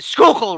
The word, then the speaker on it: Schuylkill: these guys have the Schuylkill River and it's like it sounds like you're clearing your throat when you when you say the river it's just you know